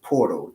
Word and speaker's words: PRTL: That's pronounced portal.